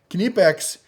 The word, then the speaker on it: Knipex: the made in Germany knipex remember you pronounce the k this is their Cobra